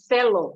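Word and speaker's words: θέλω: It's actually pronounced Thelo, which is Thelo. the Greek word, Thelo, which is the Greek word for I want, I need.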